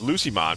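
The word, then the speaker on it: Lucemon: Ah, it's pronounced Lucimon because it is Lucifer.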